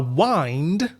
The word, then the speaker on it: wind: как ветер, wind, то есть одно слово, но есть два произношения. Wind – это ветер, а wind уже другой, как у нас в этом контексте.